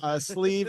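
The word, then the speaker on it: Sliabh: Sleeve is spelled SLIAB.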